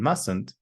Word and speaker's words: mustn't: There's no Z sound in mustn't. It's a s mustn't.